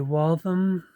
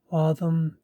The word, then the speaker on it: Waltham: This is a Waltham, I think that's how you say it, Waltham, USA pocket watch.